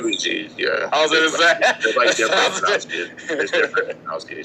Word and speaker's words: Gege: the same interview by Gege, right, when they actually reference how the ability works, they reference the inconsistency. Hold up. First off, I don't think it's pronounced Gege. I think it's G.